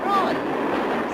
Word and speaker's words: Troy: Troy. Sorry, I can't hear. It rhymes with joy.